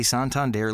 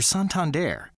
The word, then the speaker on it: Santander: get back to you it's okay to say Santander like your neighbourhood librarian your daughter's boyfriend whatever your friend who just got back from Paris it's pronounced sound Tom or the guy who runs that old timey riverboat cruise the bottom line is we're suntanned air and we want to